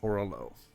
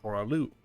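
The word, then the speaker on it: Horah Loux: The only one that we have yet to encounter is Horalo. Or Horalu, depending on how you want to pronounce it. It's pronounced, I believe, both ways in the game, just for added confusion.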